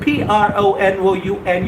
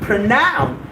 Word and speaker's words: pronoun: All you people out there, when I talk about this word P-R-O-N-O-U-N, you get the wrong pronunciation here. Well, it's not pronoun, it's pronoun.